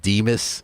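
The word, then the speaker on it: DMHAS: D MH s and it's got this pronunciation Deus yes that sounds to me like should be dmus yeah that's just my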